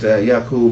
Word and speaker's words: Yaqub: So, and the name is just Yaqub, and it simply means that this is the Arabic pronunciation of.